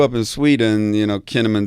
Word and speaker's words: Kinnaman: in Sweden you know kinnamon doesn't sound like that you know doesn't really rhyme with cinnamon and Swedish but uh but then